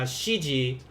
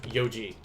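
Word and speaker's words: 四時: o'clock because it's not going to be uh shiji or yonji it's going to be yoji now i'm going to put star here because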